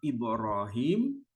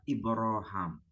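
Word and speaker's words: إبراهيم: istilah qirah cara membaca makanya bisa dibaca dengan nama Ibrahim juga bisa dibaca dengan nama ibraham Jadi kalau teks ini quraniwayah Hisyam itu membacanya ibraham sementara kita yang haf itu membacanya dengan sebutan Ibrahim Nah saudara kita nonmlim karena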